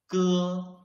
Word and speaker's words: ge: Ge. When we read ge, you can clearly feel that the root of your tongue is blocking the airflow.